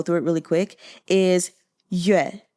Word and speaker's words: Yue: And the father's name, just to go through it really quick, is Yoo-eh. I'm not doing the tones, but just the pronunciation. Yoo-eh, like Yoo Chun-ting.